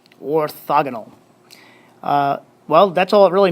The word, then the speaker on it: orthogonal: That's how you say it, orthogonal, orthogonal.